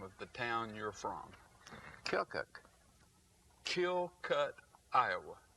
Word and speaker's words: Keokuk: Keokuk. Keokuk, Iowa. No, you didn't say it right. Keokuk. Keokuk. Right, you're getting closer.